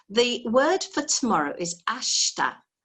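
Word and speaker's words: ashita: word for tomorrow is ashta now i've got a really silly way of recalling this one ash and tar but it's ashta ash and tar mix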